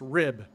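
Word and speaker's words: RHIB: of the class our Hib pronounced rib rigid hull inflatable boat what civilians might call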